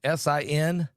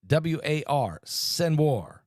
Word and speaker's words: Sinwar: Sinwar. Sinwar.